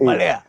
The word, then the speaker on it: Malaya: People call it Maleo. It's Malaya. Malaya. Malaya. It's actually the correct pronunciation.